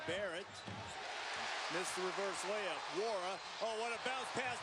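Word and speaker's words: Nwora: Wara's got 12.6 rebounds and that assist. The N in his name is silent.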